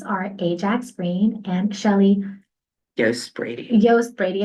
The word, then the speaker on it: Yost: And today, my lovely guests are Ajax Green and Shelly Yost Brady. Okay, I was going to say Jost, but I didn't want to say it wrong, so that's why I kind of hesitated and looked at you.